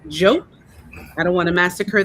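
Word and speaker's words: Diop: Jope, and spelt D-I-O-P, but pronounced Jope.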